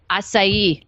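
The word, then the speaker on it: açaí: Acai.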